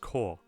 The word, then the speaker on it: corps: PS and it's called It's pronounced core what the and also